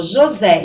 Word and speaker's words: José: Então, aqui, por exemplo, ó, José. Então, ó, José. Então, o Zé é a sílaba mais forte. Então, ela é a última sílaba tônica. Ela é a última sílaba, como ela é a mais forte, se ela é mais forte, ela é a última, então ela é uma oxítona.